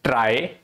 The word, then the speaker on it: trie: so it says that a try is pronounced as a try okay or a prefix